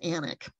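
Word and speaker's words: Alnwick: further north this is anak Castle I know it's spelled a-l-n-w-i-c-k but it really is anik um and this is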